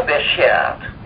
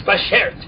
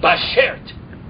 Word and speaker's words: bashert: Well, I think you're overextending it, but that is the right word. It's bashert. Beshert. Bashert. Cut it down a bit. Bashert, yeah. It's like bashert. It's not bashert.